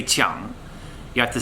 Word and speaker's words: 枪: so let's try to pronounce spear in Mandarin let's repeat after me say Chung one more time say Chung so you can't say